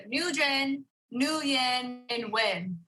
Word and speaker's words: Nguyen: on which his last name was of course win and so in the UK he would pronounce it nugin up until then eventually he was 26 and